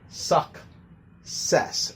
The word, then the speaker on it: success: Remember, this one should have a KS sound, so we should say suck, ses. So the first C is pronounced like a K, and the second C is pronounced like an S, just like access.